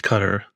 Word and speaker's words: Qatar: I think it's cutter. That's how they say it on the airway in the airline.